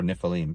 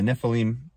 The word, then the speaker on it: Nephilim: So let's talk about Genesis 6:4, the Nephilim, or Nephilim, depending on how you want to pronounce it. The Nephilim were on the earth in those days and afterward as well.